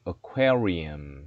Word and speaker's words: aquarium: Come to Ocean Aquarium 했습니다.